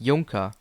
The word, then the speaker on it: Junker: The ride's name, Junker, is technically pronounced Junker, which is a German company that builds planes.